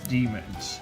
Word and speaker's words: daemons: Even though it's spelled like daemons and pronounced like demons.